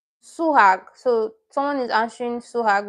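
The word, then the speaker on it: 수학: The first syllable is the third syllable and the second syllable is the first syllable. So she's correct. Oni. Oni. Number 2 is for Ruby. I'm not. Suhag.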